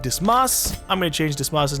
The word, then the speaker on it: Dismas: Because I want to say it like dismiss. But it's Dismas. And so I just end up saying it as dismiss anyways. Crap, I don't know what I want to name him.